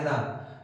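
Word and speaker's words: enough: जो आपका इनफ word है, एनफ, जिसे आप बोलते हो एनफ, प्रोनाउंसिएशन होता है एनफ, that is adjective and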